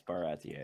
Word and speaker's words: Baratie: Is that how it's pronounced? Yeah, I was wrong. Yeah, it's Baratier.